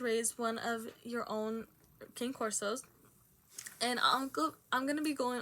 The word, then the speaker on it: Cane Corso: And yeah, literally, according to the American Kennel Club, the name King Corso is actually means bodyguard dog, and it is pronounced Cane Corso.